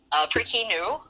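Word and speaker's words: พริกขี้หนู: I think that the English name is called bird's eye chili, but in the Thai language, it's pronounced prikinu, which word for word means chili, bird's mouse shit.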